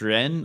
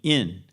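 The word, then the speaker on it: 仁: The pronunciation Chinese ren or Korean in it means human relatedness, humaness or human relatedness as something substantial, substantially related with each other.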